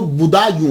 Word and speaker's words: بدایوں: گے، مسلمان بھی ہیں۔ اس کا تلفظ جو ہے وہ بدایوں ہے، کیونکہ یہ پرنس بوڑھا جو ہے نا اس کے نام کے اوپر اس سے یہ منسوب ہے، تو اس لیے اس کو بدایوں کہا جاتا ہے۔ لیکن بعد